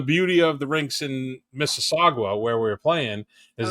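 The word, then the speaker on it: Mississauga: Missagua. Oh, it's Missaga.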